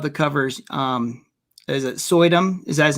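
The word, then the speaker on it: Suydam: zombies i love the covers um is it sodum is that his name how you say it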